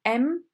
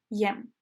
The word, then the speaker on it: եմ: the Armenian letter Y, the Y in this case is not pronounced. So it's M and not Yem.